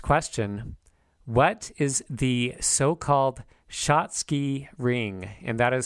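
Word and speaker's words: Schatzki: sopal Junction next question what is the so-called shoty ring and that is spelled s c h a t z Ki what is the so-called shotsky ring notable narrowing of the normal B ring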